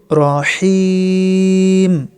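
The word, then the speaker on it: رحيم: গফুরুর রহিম। দম ফেলার কারণে মিম অক্ষরে মনে মনে সাকিন হবে। এখানে মাদ্দা আরদি 3 আলিফ পরিমাণ টানতে হবে।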